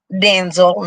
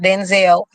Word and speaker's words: Denzel: So like I told y'all, I was last week years old when I learned that it's actually pronounced Denzel, not Denzel.